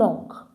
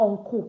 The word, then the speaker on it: oncle: Vous avez un oncle. So it's not uncle, it's oncle. The L is not pronounced.